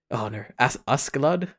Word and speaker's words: Askeladd: Oh yeah, essentially everything on the boat with Thors and Askeladd. Yeah. Is that how you pronounce it?